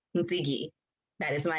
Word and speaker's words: Ntsiki: So Ntsiki is said like how you say Nikki, but with the TS. So Nikki, Ntsiki.